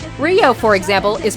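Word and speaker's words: Ryou: on my video saying it's not Rio it's Rio you know like rye bread my replies are basically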